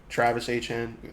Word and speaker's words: Etienne: Travis Etienne. I mean, that's how he wants to pronounce now.